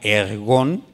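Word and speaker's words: ἔργον: Esta palabra obra viene de una palabra ergón. Así se pronuncia en griego.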